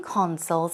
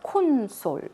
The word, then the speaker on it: console: it on some game consoles as well so I think we often say corn soy corn soy ok the pronunciation is console the stress goes on the first syllable we're talking about these